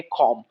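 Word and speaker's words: calm: word हमारे साथ है कॉम कॉम में य जो एल है ये साइलेंट है कॉम का मतलब है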